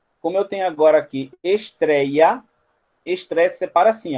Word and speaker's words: estreia: Mas em estreia, o trei está na penúltima sílaba.